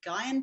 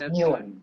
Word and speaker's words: Nguyen: neck when considering the Guyane principle? Who'd like to take that one on? That's pronounced Nguyen, the Vietnamese name. Nguyen.